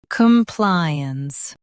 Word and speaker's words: compliance: Come. Ply. Uns. Compliance. Stress ply and keep come soft.